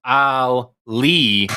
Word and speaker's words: Ally: It's pronounced Ali, short for Alyssa.